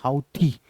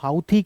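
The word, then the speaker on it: Houthi: ये है इसकी स्पेलिंग हाउथी। कुछ लोग इसको हुती कह देते हैं। कुछ लोग हाउथी कह देते हैं।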